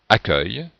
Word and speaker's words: accueil: e u se prononce ce et comme on prononce accueil donc on a inversé le U et le